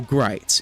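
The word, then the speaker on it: Gritz: His name is Bo Gright. It rhymes with writes.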